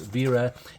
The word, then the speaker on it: Wera: this open so VRA even though it starts with a w it's pronounced ver 816 R8 ratcheting screwdriver